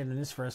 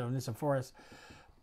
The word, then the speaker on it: Onesiphorus: Some believe that Onesiphorus, I always say Onesiphorus, some pronounce it Onesiphorus, actually died for his loyalty to Paul.